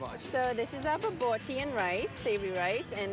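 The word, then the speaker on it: bobotie: So this is our baboti and rice, savory rice, and this is our chicken samosas, and this is our chicken peri-peri and chips.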